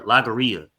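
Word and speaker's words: logorrhea: Lagaria. That's how you pronounce it. Lagaria. All right. Like diarrhea of the mouth.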